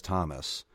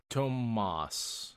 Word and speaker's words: Tomas: This Thomas, or is it Tomas? Tomas is how it's said in the audiobooks.